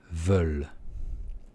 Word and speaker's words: veulent: veulent, elles veulent, elles veulent. Вот здесь тоже сам ent не произносится.